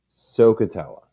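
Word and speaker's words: SOHCAHTOA: functions and that is a acronym that you pronounce as sokatella i call her the princess of trigonometry kind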